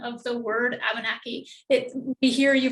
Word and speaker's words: Abenaki: There's a different melody to the language or intonation, and it's a 3-2-1 intonation where the stress is on the third from the end and the final syllable. So we hear Abenaki, Abenaki, Abenaki.